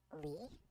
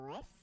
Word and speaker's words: Lis: I put some songs from my latest album called Lee or Liss. It's spelled LIS. So depends on how fancy you wanna get. Can go either way.